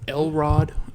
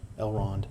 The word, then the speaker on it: Elrond: Elrod is 7,000 years old almost. Elrod? Who's Elrod? Elrond. Elrond, I said it wrong.